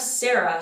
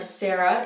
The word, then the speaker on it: Sara: n we also have sarah so the italian version of sarah is sara sara same thing focus on those a's make sure you get that r the difference are the